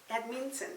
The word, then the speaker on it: Edmonton: I should say Edmonton and you know the pronunciation of that Edmonton I feel like the badminton yeah um toilets